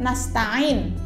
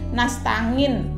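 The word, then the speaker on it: نستعين: waiyyakanastain di Pelatnas Tain kalau salah bisa jadi bacanya Dadi nastangin Lan sepadan ini kan banyak terjadi di kalangan masyarakat terutama di beberapa daerah membaca angin itu tidak sesuai dengan kedudukan atau makhorijul huruf nya angin gaji jadi bisa meleset bacanya nastangin nah menurut bakmi Surini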